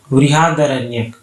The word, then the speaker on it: बृहदारण्यक: और बृहदारण्यक जो है आपका वो ओल्डेस्ट उपनिषद है। बृहदारण्यक करेक्ट इसका प्रोनाउंसिएशन होगा।